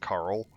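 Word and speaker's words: Qarl: Q A R L. Uh, I think it's would be pronounced Carl.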